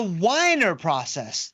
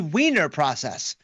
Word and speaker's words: Wiener process: the source of it all, the whiner process. Now, in the past, I have referred to this because it's correctly referred to as the wiener process, but I have learned in my study that